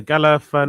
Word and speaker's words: Galifianakis: Galifianakis. Is it Galifianakis? Yeah, Galifianakis.